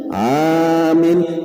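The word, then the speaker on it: آمين: Nah, lihat ke 70-nya membaca amin dengan mad apa nih? Madjanakkan berarti apa? Amin. Mimnya k boleh bersabdu langsung aja. Amin. Nah, jadi membacanya a-nya panjang, mimnya pun panjang. Kada boleh amin lain artinya lun amin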